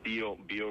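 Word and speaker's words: Biobío: up on a map it's known as the bo boo region and that's spell bio like in boy bio uh it was the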